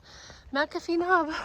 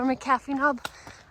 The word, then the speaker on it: McAfee Knob: Blue Blaze Trail to McAfee Knob or McAfee Knob. I've heard it pronounced both ways.